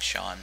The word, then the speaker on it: Seaan: it up I know my name is spelled seaan and it sounds like Shan so it's pretty good